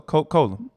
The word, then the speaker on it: Coca-Cola: grandmother god wrestled herself she loved herself a coke cola and i didn't that that wasn't a that wasn't a mispronunciation like that's exactly how she said it and that's how i pronounced it too as well uh she had